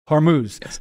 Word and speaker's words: Hormuz: not as familiar with hormas is that how you say it the straight of horm Hormuz so explain why you